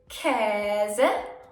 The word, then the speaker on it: Käse: Is A with 2 dots on top. It can be pronounced long, as in Käse, or short, as in ärgerlich or ängstlich.